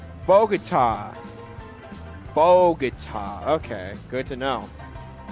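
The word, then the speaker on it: Bogotá: And the other is pronounced Bogota.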